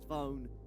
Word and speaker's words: Zvone: It randomly popped into my head that Zvone rhymes with home, and so I did an ET thing.